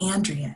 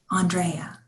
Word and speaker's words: Andrea: It's spelled like Andrea, she says, but pronounced differently. Andrea.